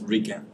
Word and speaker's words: RIKEN: So this is in Japanese pronounced as Ricken.